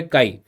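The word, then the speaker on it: chi: ए आई, ठीक है, काई। इसको इंग्लिश में लिखते ची है, मतलब सी एच आई, बट इसको प्रोनाउंसिएशन जो है वो है काई, ठीक है।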